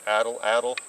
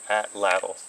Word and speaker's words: Atlatl: they've been here hospitality you can pass it addle addle or you can pronounce an atlatl you'll hear hear both ways I like addle addle